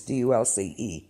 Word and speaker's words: Dulce: I'm not sure if I'm pronouncing that correctly. It's Dulce.